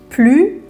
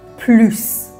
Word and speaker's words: plus: میشه فهمید از جملون پس موقع که منفیه بگید پلو بقیه مواد بگید پلوس با موریی شروع کنیم که باید اسو تلفظش کنیم بعد بگیم بگیم بگیم پلوس خوب گوش بدید پلوس